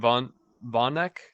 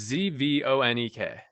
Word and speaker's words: Zvonek: Aurora Councilman Dustin, I don't know how to say this dude's name, Vonek? It's Zvonek.